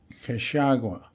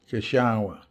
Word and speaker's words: Cachagua: Turned left at a sign spelled Cacagua that I would come to learn was pronounced Cachagua, with the first C pronounced like a K and the second one pronounced like a CH, and the GUA at the end pronounced like Wa, Cachagua.